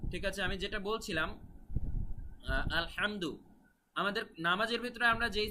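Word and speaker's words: الحمد: সংশোধন করে দিব ইনশাআল্লাহ তো আলহামদু এখানে উচ্চারণটা বুঝতে পেরেছেন তো গলার ভেতর থেকে আপনাদের হা এর উচ্চারণ নিয়ে আসতে হবে আলহামদু আলহামদু এভাবে তারপরে রহমানির রাহিম এখানে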